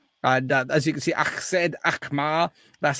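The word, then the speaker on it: AZ Alkmaar: Sutoo from Dynamo and as you can see Axed Akmar that's how you say it correctly honestly at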